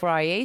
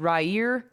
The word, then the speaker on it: Rayet: I said it right. Français, s'il vous plaît. I know, but see, people say... I was watching some guy actually say it completely wrong. I think he said Rayer.